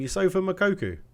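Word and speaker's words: Youssoufa Moukoko: new one i was like that's how you pronounce his name you sofa makoku makoku i mean he's amazing right we'll swap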